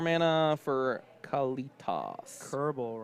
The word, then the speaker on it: Koerbel: Kerbal rhymes with Gerbil.